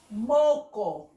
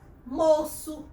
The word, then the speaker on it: moço: A, O e U, indica que a letra será pronunciada com o som de S. Então, se eu não botar, fica aqui, ó. Vamos pronunciar? Fica o quê? Moco.